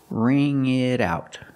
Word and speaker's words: wring it out: The T in it changes to a fast D because it's between vowels. Ring it out.